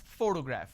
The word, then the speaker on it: photograph: I pronounce this as photograph which means I'm stressing on the first syllable but when I look